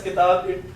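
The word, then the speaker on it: كتاب: And I said that it's important because when we say these words, when we pronounce single words, we don't pronounce the i'rab. Okay? We don't say kitabun. We say kitab.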